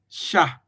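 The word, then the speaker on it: chat: So French will pronounce this word c h a t sha sha that sha okay we can we will not pronounce the t we will not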